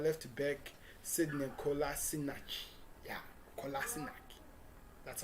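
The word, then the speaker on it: Kolašinac: million euro signing of not left back sidney kolasinac that's how you pronounce that and yes did that business as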